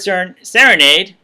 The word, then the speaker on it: Serenade: In fact, even the person that played, Sia's character, Songbird Serenade, like Lemonade, if you want to, remember how to pronounce it, she gets very few lines in the movie.